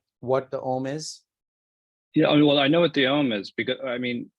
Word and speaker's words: Om: The smaller sound, the other three syllables from Om come three syllables, A, U, Ma. So if you notice, A is coming from deep inside, U, Ma, right?